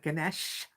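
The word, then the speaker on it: ganache: uh pretty much two chocolate biscuits with uh ganesh that's how it's pronounced uh in between covered in chocolate it's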